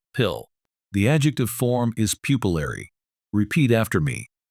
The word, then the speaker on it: pupillary: The adjective form is pupillary. Repeat after me. Pupillary. Again, emphasize the bolded syllable, pill.